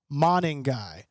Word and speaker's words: Monangai: What do you mean spell it out? It's Monangai.